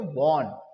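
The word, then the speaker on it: won: लेकिन हम और सब लोग इसको क्या बोलते हैं, वॉन, वॉन, वॉन मीन्स जीतना, ठीक है। तो इसको सही प्रोनाउंसिएशन के साथ पढ़ा जाए तो इसको मैं वन बोलना है, वन, डब्ल्यू ओ एन, वन, ठीक है। जो ओ है ना वो आ का साउंड देता है, वन।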